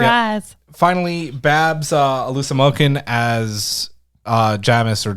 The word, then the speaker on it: Jamis: Finally, Babs Alusamokin as Jamis or Jamis, however you want to pronounce his name. He has his role. Jamis, it's a Seamus.